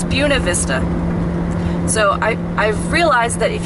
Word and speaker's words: Buena Vista: I've been saying Buena Vista and that's wrong it's yeah it's beaut it's Buena Vista so I realized that